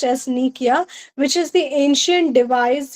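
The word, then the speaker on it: nekuia: N E K U I A which is pronounced as Nikia which is the ancient device used to summon and question ghost.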